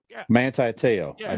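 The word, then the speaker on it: Manti Te'o: Oh, Manti Teo. Yeah. Manti Teo.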